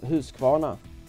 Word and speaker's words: Husqvarna: speak English you know this bike as a Husqvarna but actually it's a Swedish bike and it's pronounced who's gonna or if you say it like where I'm